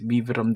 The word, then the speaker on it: Vibram: siyang nakalagay dito na vibram ay hindi ah sabi nila is viam daw tamang pronunciation nito so yan your connection to